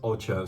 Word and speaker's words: Ocho: team page it says the correct pronunciation is Ocho so I'll try my